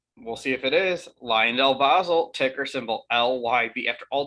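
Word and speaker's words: LyondellBasell: you it could we'll see if it is lion delbasel ticker symbol l-y-b after all these videos i finally learned how to pronounce their name correctly it's about time so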